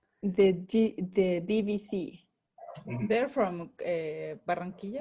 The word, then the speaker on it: Barranquilla: They're from Barranquilla? Barranquilla. No. Barranquilla, yeah, from Barranquilla. Well, in English, the pronunciation would be Barranquilla.